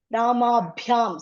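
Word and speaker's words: rāmābhyām: And this is Mahaprana Bha, Ramabhyam. Some air should be there when we tell this Ba, okay? Air, Ramabhyam, okay?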